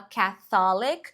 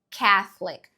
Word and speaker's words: Catholic: católica é chato e presta atenção pra pronúncia de católica aqui né a gente não fala catholic e sim catholic catholic Church olha como ele fala catholic Church duas sílabas viu catholic catholic Church catholic